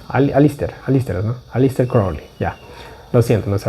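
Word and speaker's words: Crowley: Creo que es Cowly. Cra. Crawly. Gracias. Alister. Alister, no, Alister. Crawly.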